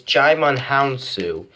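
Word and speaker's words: Djimon Hounsou: dime DJ DJ Aman Hounsou it's hard to pronounce it give me a second okay okay I got it right out it's it's chime on hounsou who played the original Shazam who turned Billy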